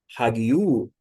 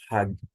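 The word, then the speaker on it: ἁγίου: marcar a sílaba tônica você não vai pronunciar hagiu não por causa de quê Porque a sílaba tônica está aqui a aa essa aqui ó tônica de modo que você tem ragu ragu ragu é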